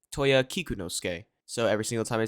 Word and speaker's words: Kikunosuke: halfway through editing that his name is actually pronounced Toya kikunosuke so every single time I say Toya kanosuke just know that it's actually pronounced kikunosuke now let's get back to the video who